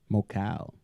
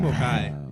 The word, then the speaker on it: Mokai: Mocal. You have to put a little bit of Mocal. It's actually Mokai. It's Mokai. Mokai. Mocal. That's very aggressive. Yes, it's Mokai.